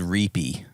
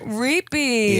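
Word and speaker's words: Ripi: We're from a little village called Reapy. You spell it AP. R-A-P-E-Y. Really? No, it's R-I-P-I. Reapy.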